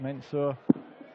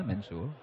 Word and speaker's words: Mensur: And a possible 11 darter on, but Mensur hits another maximum, his third of the match.